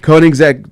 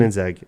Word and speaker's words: Koenigsegg: the Bugatti Veyron, is that how you pronounce it? Veyron, and the Koenigsegg, Koenigsegg. that one. Koenigsegg, I think is the way you say it.